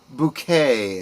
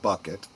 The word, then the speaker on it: Bucket: She played the character of Hyacinth Bouquet, as she pronounced it. Everyone else called her Mrs. Bucket. Insisting it was pronounced bouquet, Hyacinth Yes.